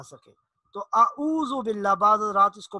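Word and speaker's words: أعوذ: حمزہ کی آواز ہے، تو اس کو اعوذ باللہ نہیں پڑھیں گے بلکہ اس کو پڑھیں گے اعوذ، عین کا جو تلفظ ہے اس کو ذرا واضح کریں گے تاکہ حمزہ اور عین کے تلفظ میں واضح طور پر ادائیگی میں فرق نظر آئے۔ تو سب سے پہلی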